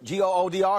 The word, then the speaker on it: Goodr: Is it Goodr? Goodr? Is that how it's pronounced?